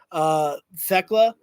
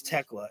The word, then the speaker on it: Thekla: I have never seen Thekla or Tekla. I think it's Tekla inside. I think it's Tekla is how you pronounce it.